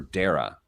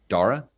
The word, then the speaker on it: Dara: It's from Dara or Dara. How do you think it's pronounced? D-A-R-A? Dara. Dara? Yeah. Dara. So like it's Sarah, Dara.